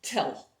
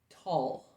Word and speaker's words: tell: a native english speaker that spells tell the pronunciation of this word was anything but tell it was closer to tall or to all which is you know